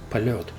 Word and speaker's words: Poljot: In fact, this sound yo, which you can see in Russian characters, even if it doesn't have these dots above it, in this particular word it's still pronounced POLET. And on some of your watches you will notice that those dots do not exist there. Nevertheless, it would be still pronounced, in this word it would be pronounced as POLET.